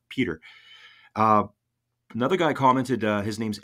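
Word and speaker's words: Piotr: Obviously, I'm pronouncing that in my English version, but P-I-O-T-R, Peter.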